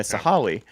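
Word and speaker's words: Sahalee: then now you're at sah sahali sahale sorry so sah also the Google pronunciation yeah sahali and I mean you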